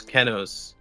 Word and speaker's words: Keno: My character's name is Kenos. but his name he goes by is Keno. The full spelling of the name is Kenos, but the name he goes by is spelled Keno.